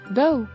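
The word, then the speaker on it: doubt: silent letter L പാమ్ ಡೌ ಸಂದೇಹ silent letter B ದೋ goes ಭೂತ ಸೈಲೆಂಟ್ ಲೆಟರ್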